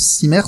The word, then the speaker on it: CIMERS: responsable du CIMERS, je sais pas comment on prononce, CIMERS, c'est ça?